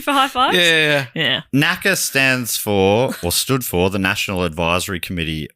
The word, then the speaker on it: NACA: So before NASA was a thing called NACA. No. NACA. Well, apparently it wasn't really pronounced NACA.